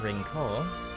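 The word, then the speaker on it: Rinceoir: yeah I just there we go well Killian rinkle that we actually said his name and they're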